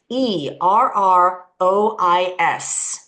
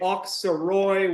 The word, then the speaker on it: Auxerrois: But it's been told to me by a French person that you should pronounce it kind of like oak, like an oak tree.